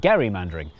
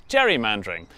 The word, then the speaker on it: gerrymandering: And that's how the process of manipulating maps for political gain became known as "Gerry-mandering". And then everyone started pronouncing it wrong. Which is how it became known as "Jerry-mandering" which was good news